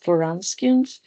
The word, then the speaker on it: Wronskian: Pay attention to, we pronounce as Wronskians, and then we spell it as Wronskian.